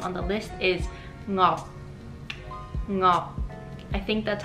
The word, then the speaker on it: Ngọc: So in English, the NG sound on the beginning of the word is very difficult. So I spent many years practicing because my last name is, so I needed to learn NG, how to pronounce that. And so I think that the name would be Ngọc. Ngọc. You close your mouth at the end with a C, and it's Yongnam.